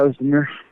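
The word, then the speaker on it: Özdemir: Ozdemir? Yeah, Ozdemir.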